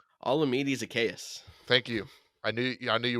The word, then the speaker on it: Olamide Zaccheaus: all going to number 17 that I can't pronounce his name. Olamide Zaccheaus.